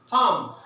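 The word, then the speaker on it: palm: पढ़ना कैसे? फार्म, L silent है इसके अंदर।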